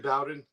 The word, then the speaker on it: Bowden: So down south, it's pronounced Bowden. Like okay. Bobby Bowden.